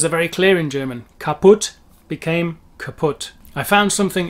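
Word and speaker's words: kaputt: as i was saying these lazy umlaut sounds kaput kaput sorry to my german friends it's not the word kaput that you are used to it's kaput it's one of our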